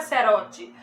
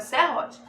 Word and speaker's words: serrote: A palavra não é serote, a palavra é serrote.